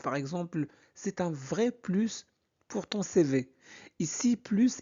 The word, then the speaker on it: plus: Première règle la plus importante. Quand plus signifie davantage, et bien on prononce le S.